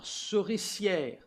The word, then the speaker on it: souricière: Il faut la souricière. J'ai bien prononcé, souricière. C'est difficile pour un anglais de dire ça.